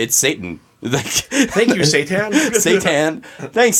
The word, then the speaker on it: seitan: It's pronounced seitan. It's It's let the record show because listeners can't see this. Rob is face palming right now. Yeah. Well, I thought it was Seton, but it's Satan.